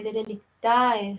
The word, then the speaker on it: derelictae: En cambio, para los romanos, las res derelictae, se lee derelictae, se escribe, son aquellas cosas que